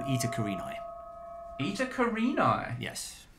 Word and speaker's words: Eta Carinae: star called ITA karini ITA karini yes is that how it's pronounced that's how I pronounce it it is a